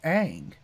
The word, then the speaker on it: Aang: Night Shyamalan going like, yeah, but in East Asian countries, it's pronounced like things like that are like aw. So Ong makes more sense.